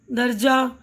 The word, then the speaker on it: درجہ: ہائے مختفی، ذیل کے لفظوں کو پڑھتے ہوئے ان کے تلفظ پر دھیان دیجیے. پروانہ، پردہ، مدرسہ، درجہ، ہفتہ، تو سب میں آ کی آواز آ رہی ہے نا.